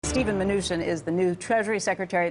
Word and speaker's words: Mnuchin: pronounce your name because I've heard it pronounced 15 different ways by people who swear they know your family minan I'll go with minian okay Steven minan just